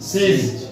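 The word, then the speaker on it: seize: সিজ। বানানটা কিন্তু সাইজ নয়, সিজ।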